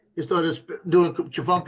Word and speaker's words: Tchefuncte: was doing Chifuncta right. TCHEFUNCTE. It was saying that right the whole time, right? After it started doing crew right, it started doing Chifuncta wrong.